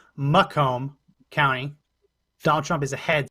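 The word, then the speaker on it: Macomb: Bellwether which I was just told I was mispronouncing McComb County Donald Trump is ahead 66.87 that is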